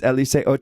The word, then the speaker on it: Eliseo: My joke is my name is Eliseo, But since we're in white Boise and none of you all can It's pronounce Eliseo.